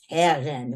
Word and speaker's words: Karen: Now, my name is pronounced Karen in English, but when I moved to Israel, I learned that my name in Hebrew is pronounced Karen with a R in the middle.